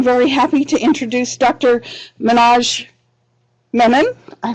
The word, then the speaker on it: Manoj Menon: Manoj Menon. I pronounced it right?